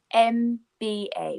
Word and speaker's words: MBA: We pronounce it with a vowel sound. So, for example, some of you will know, many of you will know the qualification that you can get called MBA, which is a Master's